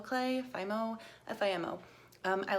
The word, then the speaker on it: Fimo: First off is different kinds of, I think it's pronounced Fimo clay, Fimo, F-I-M-O.